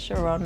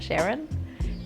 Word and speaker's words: Sharon: People need to know how to say my name right, because it's Sharon, not Sharon.